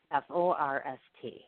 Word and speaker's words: Forst: It's spelled differently than it actually sounds. His actual name is spelled F-O-R-S-T. It's pronounced Forst, like it's in Force the Door Open.